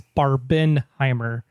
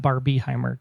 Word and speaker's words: Barbenheimer: things all the time it's barbin Heimer not Bar B Heimer get the hashtag right